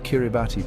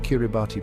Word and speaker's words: Kiribati: The most significant linguistic shift occurred with the letters T. In Gilbert, the combination T is pronounced as S.